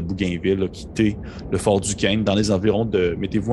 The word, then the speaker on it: Duquesne: également le Fort Duquesne, parce que je le prononce comme du monde, Fort Duquesne de cette année 1758, en direction, dans le